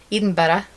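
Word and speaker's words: Edinburgh: learned these two things how to say the Edinburg it's Eden better and um bed and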